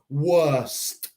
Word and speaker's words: worst: Así que tenemos worse y worst. Recuerda el T en el final.